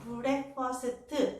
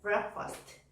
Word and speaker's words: breakfast: 근데 영어 발음을 공부하실 때는요. breakfast가 아니에요. break 한 박자예요. first 두 박자예요. 우리는 breakfast 5 음절로 소리를 내는 거를 원어민들은 breakfast 2 음절로 소리를 낸다고요. 게다가 얘가 문장에 들어가잖아요.